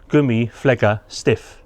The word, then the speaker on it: Gummi Pflege Stift: I've been watching a YouTube video of a chap who's using this, and it's actually pronounced Gummi Pflege Stift.